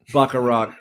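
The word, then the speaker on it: Bachrach: see e no way you see eban moss backarat I know I'm probably saying his name wrong but it's pronounced bakar Rock cousin um hey cousin um that's how you're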